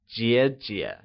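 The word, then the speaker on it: 姐姐: are called in mandrin elder sister is translated as G G and is pronounced using the falling Rising tone can you try and say g g good younger sister translates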